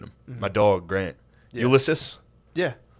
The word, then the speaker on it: Ulysses: Ulysses. Yeah. How do you Why say do you his hate name? Custer? How do you say Ulysses?